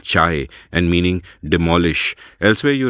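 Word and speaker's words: 拆: side dust that and the omnipresent Chinese character pronounced chai and meaning demolish elsewhere you write about how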